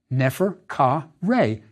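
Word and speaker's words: Neferkare: How is it pronounced, and what does it mean? Nefer Ka Re is how it sounded.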